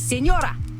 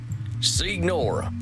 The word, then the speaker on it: signora: It is Senora. Senora. You know what, ma'am? You need to chill. Well, jeez, you don't have to be so mean. Then say it properly. Senora. Signora.